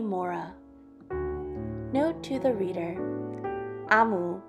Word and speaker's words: Omu: note to the reader amu pronounced is the igbo term for queen thank you amu